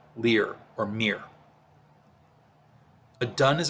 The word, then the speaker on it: Lyr: world lear's name is pronounced leer it rhymes with sneer leer or mir a dunn